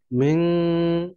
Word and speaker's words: من: মিন, এখানে একটা গুণা আছে, من নুন সাকিনের পরে من শিন আসছে, ৮ হরফ আসেনি, এই জন্য এটা গুণা হবে।